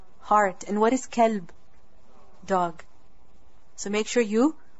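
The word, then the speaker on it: كلب: kalb what is called heart and what is kelb dog so make sure you pronounce properly because you might be referring to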